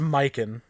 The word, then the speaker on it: Mikan: pronounced Mikan.